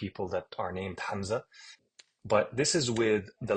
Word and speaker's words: Hamza: going to come out, and I say Hamza, Z, whereas in Fusha, you would say Hamza, Hamza.